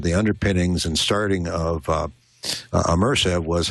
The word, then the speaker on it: ImmersAV: And my hope, which was sort of some of the underpinnings and starting of ImmersAV, was how can one bring a true surround experience to people that they can use?